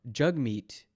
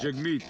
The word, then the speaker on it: Jagmeet: uh what's his name jaggy right jaguar jackie juggy jug meat are you mispronouncing his name on purpose how do you not know that jagmeet okay this he's he's